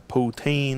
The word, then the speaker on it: poutine: Or poutin. Putin. Ah, I haven't heard it pronounced that way. Okay. We're used to the poutine over here.